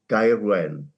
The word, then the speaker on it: Gaerwen: As a South Walian, I would call it Gaerwen.